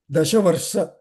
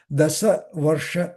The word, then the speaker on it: दशवर्ष: माण्डकर्णिना Sahitepe Tapastivram सहितेपे तपस्तीव्रं Mandakarnir Mahamunihi माण्डकर्णिर्महामुनिः Dashavarsa Sahasrani. दशवर्षसहस्राणि Good, very good. I was mispronouncing. Dasavarsha Sahasrani दशवर्षसहस्राणि Vayubhaksho Jalashrayah.